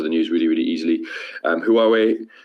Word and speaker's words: Huawei: So it's, like Huawei. How would you spell that? Thank you. Huawei. WAW. Then way.